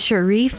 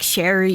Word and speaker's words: Shareef: spelled phonetically sure wreath my name is Shareef they put like sherry it's sherry or something like with the s and stuff you know and that's better